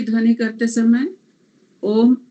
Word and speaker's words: ओम: ओम की ध्वनि करते समय ओम अ, उ और म से बना है, तो अ का उच्चारण नाभि से, अ और उ मिलके ओ बनता है हृदय से, और म का उच्चारण कंठ से मस्तिष्क तक।